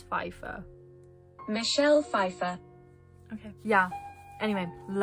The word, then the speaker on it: Pfeiffer: And also, I don't know how to pronounce this. Oh my god, but Michelle Pfeiffer. I think it's Pfeiffer.